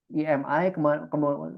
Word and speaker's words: EMI: Tapi karena saya tidak izin ke yang punya lagu Bohemian Rhapsody, yaitu EMI ya, bacanya EMI ya, EMI. Kemudian ketika saya mencapai viewer saya tinggi, di email Anda melakukan violation, Anda melakukan pelanggaran hak cipta.